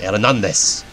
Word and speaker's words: Hernandez: Or Hernandez. Because it's a Spanish name. The H is silent. Hernandez.